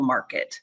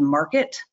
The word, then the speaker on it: Markt: It's going to be a great member benefit, and it really highlights the importance of your place in the rental market.